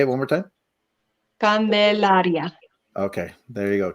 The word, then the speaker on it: Candelaria: says candelaria but i've heard you kind of pronounce it a little bit different right or is it say it one more time candelaria okay there you go candelaria but once again guys uh we absolutely appreciate